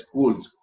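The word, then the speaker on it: Scholes: such Authority is Robert cools s-c-h-o-n-e-s s-c-h-o-l-e-s Robert cools it is pronounced as schools it may appear shoes but actually it is from all the schools Robert Coles has written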